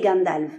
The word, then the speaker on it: Gandalf: C'est pourquoi il semble correct de dire Fundin, Bombur, Dain, Groin, Thorin, Smaug et Gandalf. Oui, souvenez-vous, le F en fin de mot a valeur de V.